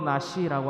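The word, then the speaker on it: נשיא: 족장은 히브리어로 나시라고 합니다. 다시 따라하십니다. 나시. 우리가 나시티 할 때 나시라고 발음을 해요. 나시티가 아니라 나시죠. 티 빼고 나시라고 똑같이 발음을 합니다.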